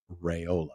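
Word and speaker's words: Raiola: monstera Rola if you noticed dad said rayola interesting which is the way it's pronounced I was thinking about that on the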